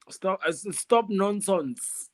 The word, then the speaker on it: StopNonsons: Stop nonsense. It ends with the S, but how you pronounce it is exactly how it is.